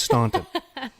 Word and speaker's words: Staunton: Is that how you pronounce it, Staunton? Yeah, it's Staunton.